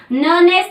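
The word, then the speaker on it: Nernst: By equation known as नर्नेस्ट equation, नर्नेस्ट equation, जिसको कई नर्न्स्ट equation भी कहते हैं। तो आपकी मर्जी है आप क्या प्रोनाउंसिएशन करते हो उसकी।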